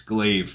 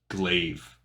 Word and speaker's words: glaive: a thousand episodes um I'm just realizing that I'm dumb it's glaive now I've got to retrain Decades of mispronunciation glaive okay you learned it with